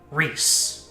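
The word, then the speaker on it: Ries: My name is chat pronunciation ree rise reus peace but with an r instead of So Reese like E. There you go. Reese's pieces. Perfect.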